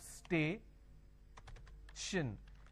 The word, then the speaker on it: station: example for example station now when I have station I have stay Shin the t-i-o-n basically I can say s h i o n station right so t i o n means sure location station foreign now